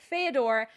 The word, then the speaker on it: Fyodor: Fyodor. You know why I mess it up? Because it sounds like that Russian author Fyodor.